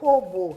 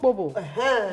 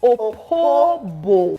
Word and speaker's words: Opobo: Okay, is that the correct pronunciation? Yeah. Opobo. Yes. Not a king of Opobo. No, it's not Opobo. It's Opobo.